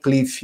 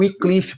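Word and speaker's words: Wycliffe: Algumas pessoas colocam cliff. Eu fui procurar qual era a pronúncia correta, mas é o Icliff porque é um W e um Y.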